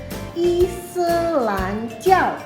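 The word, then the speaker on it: 伊斯兰教: Nah, Islam ini dalam bahasa Mandarin kita sebut Islanjiao.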